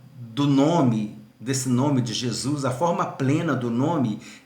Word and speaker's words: Jesus: Então, mas só que você não vai ler Iesous, você vai ler Jesus, porque o O e o U vai ser o O e o ômicron e o Y, né?